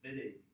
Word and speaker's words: Wittig: Why is it pronounced Wittig? Because that guy's name is German. The Wittig reaction uses an ylid.